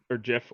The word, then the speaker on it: GIF: will turn that video into a GIF, or GIF, or I like to pronounce it JIFE, just to annoy both sides.